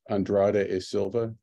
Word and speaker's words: Andrade e Silva: It took me a long time to learn how to say his Brazilian last name, which is Andrade e Silva.